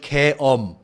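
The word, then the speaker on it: 게임: And martial law in Korea, you pronounce it keom. So it's like Keom. a word different from game.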